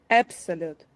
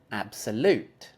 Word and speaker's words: absolute: excellent one more time absolute absolute yes I think usually people are going to put the accent on the third syllable like this absolute try that absolute yes